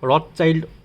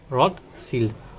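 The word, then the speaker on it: Rothschild: এটা অনেকে রড চাইল্ড উচ্চারণ করে। কিন্তু এটা রড চাইল্ড হবে না। রড সিল।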